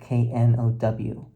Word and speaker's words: know: and Sanskrit and no k n o w the the K is silent so it really should